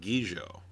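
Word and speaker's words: Gigot: may or may not be familiar with called gijo it's spelled g-i-g-o-t and it stars in a completely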